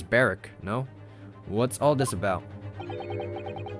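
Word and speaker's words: Barok: Sometimes it's hard to see any warmth in those eyes, Barack. Barrick, there you go. Lord Von Zykes? I've been mispronouncing his name the entire time. It's Barrick, no?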